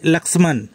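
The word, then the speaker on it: लक्ष्मण: সীতা ও ভাই লক্ষণ হিন্দিতে হবে ভাই লাক্সমান বাংলায় উচ্চারণ লক্ষণ হিন্দিতে উচ্চারণ লাক্সমান ছিলেন থে সবাই একসাথে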